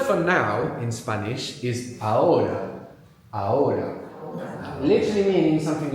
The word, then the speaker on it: ahora: Ahora. The H is silent, so it's A-H-O-R-A.